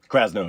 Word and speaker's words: Krasno: Krasno, yeah.